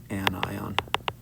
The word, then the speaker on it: anion: gain gaining an electron we don't say anion we say an ion chlorine becomes the negatively charged anion and again um we